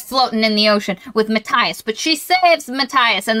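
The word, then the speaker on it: Matthias: to rape them and his name is Matias not Maas though that's how it's spelled why is it Matias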